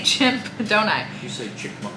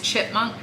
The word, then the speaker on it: chipmunk: it wrong chipmunk chip I always say chimp Donuts is it it's chipmunk okay it's chipmunk I think